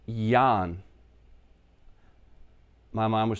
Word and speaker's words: Jørgen: Now, that is pronounced Jan. My mom would say Jan in Danish. Okay? So, it equals probably close to Y-A-H-N over here, or Y-A-N.